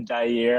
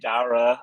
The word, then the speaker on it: Daire: I respect the Daire. Everyone likes to go that route because of Jair. I mean, it should be phonetically similar. It's technically Dara.